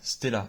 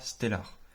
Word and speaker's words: Stella: c'est écrit Stella et quand les Japonais le prononcent ils disent Stella et pas stellar et c'est pas une un problème de prononciation quoi c'est que Ben le le r n'y est pas du tout c'est le mot Stella